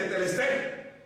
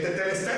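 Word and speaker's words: Τετέλεσται: Se escribe tetelestai, pero se lee tetelestai.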